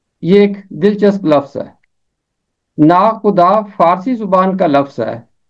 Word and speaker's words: ناخدا: کی 27ویں آیت میں اور 29ویں آیت میں، ناخدا۔ یہ ایک دلچسپ لفظ ہے۔ ناخدا فارسی زبان کا لفظ ہے اور اس کا